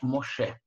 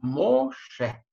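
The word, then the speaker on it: משה: И читается она Ше. Посмотрите внимательно, кроме вот самой этой буквы, то есть вот такого изображения, которое мы видим здесь, да? Что мы видим здесь? Мы видим еще точку над правой ветвью, точку над буквой шин. Если точка такая стоит с правой стороны, буква называется шин и читается ш, да? Поэтому имя мы читаем Моше, Моше, Моше.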